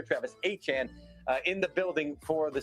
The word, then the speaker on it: Etienne: But now you've got yourself Travis Etienne, and yes, that's how you pronounce his name, he made that clear, Travis Etienne, in the building for the Saints.